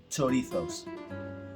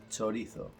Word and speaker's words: chorizo: However, the pronunciation, the proper pronunciation, the way we pronounce this word in Spanish, it's a slightly different. So the word pronounced would be chorizo, chorizo, chorizo.